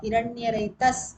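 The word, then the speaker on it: हिरण्यरेतस्: Hiranyaretas, again a Sakaranta Shabdam. Hiranyaretas, original word Pullingam.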